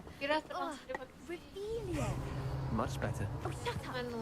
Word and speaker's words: Revelio: You're Rebellious. saying it wrong. Kira Revelia.